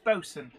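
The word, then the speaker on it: boatswain: yeah it's like bosun boson is not spelt b-o-s-u-n unless you're talking about a particular brand of boat um bosun is actually spelt boat swain yes but it's boson um brian perry i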